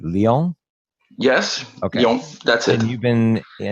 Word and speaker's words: Lyon: I think I'm pronouncing that right. Lyon?